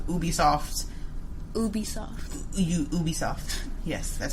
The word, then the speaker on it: Ubisoft: in this game i feel like ubisoft's ubisoft ubisoft yes that's how it's pronounced ubisoft um is just making games under